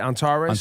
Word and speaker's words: Antares: Antares? Antares, yeah, What are they yeah.